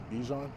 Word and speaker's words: Bijan: a debate um of how to say Bichon we've heard it's Bijan and then we've heard Bichon how do you pronounce it Bichon yeah it might be it might be the Montreal ways how it might be the way they say in Montreal so his mom said